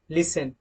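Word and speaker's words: listen: rule के मुताबिक okay T is often silent in एस टी ई एन एफ टीई एन एस टी एल ई अगर दोस्तों किसी word के लास्ट में यह वर्ड आते हैं मतलब कोई वर्ड इनसे मिलकर अगर बनता है और यह लास्ट में होते हैं तो वहां पर टी को साइलेंट रखा जाता है example लिसन often castle TC okay next slide पर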